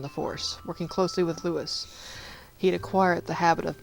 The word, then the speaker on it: Lewis: Yeah, I'm calling him Lewis instead of Louis, because I don't... they're in San Francisco, so I'm not doing it with the French version, That's why I'm calling him Lewis instead of Louis.